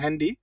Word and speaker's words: Handy: Good, মান meet them হ্যান্ডি, হ্যান্ডি না, উচ্চারণটা হবে হ্যান্ডি, ঠিক আছে, হ্যান্ডি Handy নাক্রিস্টেন, Nachrichten schicken.